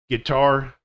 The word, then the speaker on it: guitar: So these are words with the silent U: biscuit, build, circuit, disguise, guilty, league, rogue, vague, guess, guest, guide, guitar, antique. So some of these words